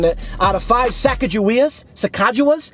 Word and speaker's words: Sacagawea: sacagawea dollar you know you said it right the first time sacagawea out of five saga